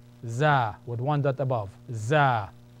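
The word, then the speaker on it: ز: z or zah zah with one dot above zah z z the next one is seen s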